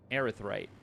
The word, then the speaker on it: erythrite: Erythrite. It's pronounced erythrite.